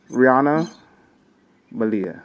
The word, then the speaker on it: Riana Malia: With that, I want to bring to the stage Rihanna Malia.